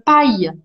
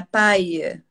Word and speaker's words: paille: Mas canudo a gente fala em francês, une paille. Paille. Uma paia. Que se escreve Palle.